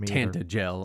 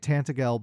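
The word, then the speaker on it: Tantegel: voiced, I got to hear that it was tantel. And I've been calling it tantagel my entire life. And that's me too. And I don't like the the the soft G in tantel.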